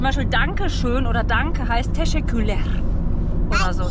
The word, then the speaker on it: Teşekkürler: Und es ist sehr schwierig natürlich für uns mit der Aussprache, wegen dem R. Das machen ja so. So zum Beispiel Dankeschön oder Danke heißt Teşekkürler. Oder so, Teşekkürler.